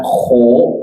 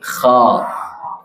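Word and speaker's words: خَ: Pengucapan yang benar bukan kho, tetapi kha.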